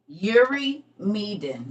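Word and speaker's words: Eurymedon: to the internet to find it okay I'ma spell it again e-u-r-y-m-e-d-o-n Yuri meden um who is it we're doing giant trivia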